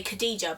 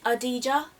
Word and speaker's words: Khadija: spelt like so but everyone if you read it you'd say khadija but it's actually adija yeah but so we got silent k silent h a dja cellway and i am